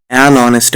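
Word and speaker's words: honest: এ কারণে আমরা এই যে শূন্যস্থান যেটা রয়েছে এখানে এন বসাতে পারি অনেস্ট ম্যান কেমন দেখ এরকম কিন্তু ইংরেজির কোশ্চেনগুলো আসবো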